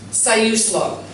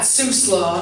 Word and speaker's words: Siuslaw: for those of you who don't know it's pronounced siuslaw not suslaw not saees la it's not it's and foof resides in the siuslaw river valley and we are here today on